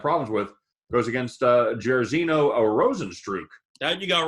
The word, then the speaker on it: Rozenstruik: Goes against Jairzinho Rozenstruik.